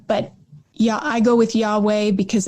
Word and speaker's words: Yahweh: with those vowels but scholars are in pretty widespread agreement that yahweh is a decent way to pronounce it some think it's yahoo or yahwah but yeah i go with yahweh because it's the most